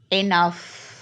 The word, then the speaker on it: enough: no enough can you hear the sound F enough so when the G Ed at the end of the word and is pronounced f like enough our next example is